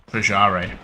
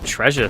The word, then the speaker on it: Trajare: Is that how that's pronounced? Yeah. Trajare. I've been calling him Treasure for like 2 years. But isn't Treasure with a... Treasure's with a U?